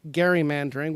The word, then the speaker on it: gerrymandering: and because of gerrymandering or a senator Rose likes to remind me every single time I say it gerrymandering which is the proper way to say it but I'm going with the popular way because of gerrymandering the